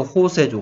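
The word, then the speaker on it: José: 그래서 호세죠, 호세. 뭐 스페인식 발음으로는 J가 H 발음입니다.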